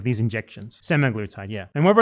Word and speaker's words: semaglutide: six months because he took um semi what's semiglutide or semiglutide? Hold on. Is it I have to say it correctly. He took the semiglutide medication like these injections. Semaglutide.